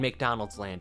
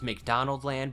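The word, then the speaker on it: McDonaldland: place between Earth and McDonald's land its proper pronunciation is McDonald Land but that sounds significantly Dumber so we're not going to call it by the correct name McDonald's land is simultaneously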